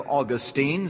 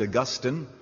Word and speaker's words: Augustine: a man by the name of Austine sometimes pronounced Augustine and he wrote a